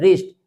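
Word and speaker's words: wrist: अगर कोई वर्ड अगर स्टार्ट होता है डब्ल्यू आर से तो उन वर्ड्स में डब्ल्यू लेटर साइलेंट रहेगा।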